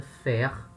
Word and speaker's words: faire: O verbo no infinitivo, faire, esse R no final ele tem uma pronúncia, faire, e o particípio fait.